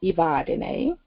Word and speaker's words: Evadyne: in the name so my name is ibadine it is spelled e v a d y n e the last e is accented to give you that ASAP My Mother originally